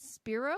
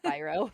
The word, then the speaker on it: Spiro: So I have Nick Dotson and Spiro. Is that right? I should have asked before the recording, but Spyro. Like a dragon. Spyro, sweet. Yeah.